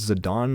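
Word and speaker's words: Zidane: people say Zay and zadon however I said Zade in the entire playthrough of nine that I did and then I I watched uh Penny snap Cube play n and like everyone was saying it's actually pronounced zadon I'm like what do you mean it's been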